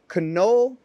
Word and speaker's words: Knoll: For everyone watching, Knoll, K-N-O-L-L, that is how you say it for my friends in America who are mispronouncing it.